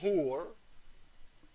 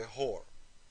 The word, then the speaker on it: hur: The Muslim man was promised 72 hur. Some people, they say it wrong, they say whore.